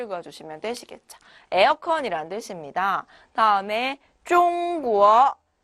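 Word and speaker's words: 中国: 다음에 中国 네, 중국이란 뜻이에요.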